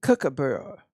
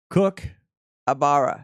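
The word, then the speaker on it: kookaburra: yes of this bird cabur no cabar no no it's not cook cook cook cook abara like a chef and abara yeah cook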